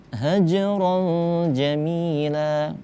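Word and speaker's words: هَجْرًا جَمِيلًا: Baca kecil aja, hajron jamila, karena itu huruf jim merupakan termasuk ke dalam huruf qalqalah. Sughra apa kubra? Sughra, karena dia berada di tengah kata, seperti itu. Nah, kita bacanya kecil aja. Hajron, hajron jamila. Ronnya tidak kita baca hajron, ron, tapi kayak sama-samar. Hajron, karena ikhfa hukum bacaannya.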